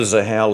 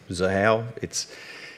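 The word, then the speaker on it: Xahau: Now, we're doing it on the Zahao ledger. I understand it's a hard word to pronounce when you look at it. Zahao, it's a thing that names have got X's in this space.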